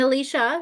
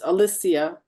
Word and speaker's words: Alysia: here for everybody and Alicia am I saying your name correctly it's Alysia Alysia I'm so sorry I